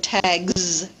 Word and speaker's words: tags: It's pronounced voiced z instead, so tags.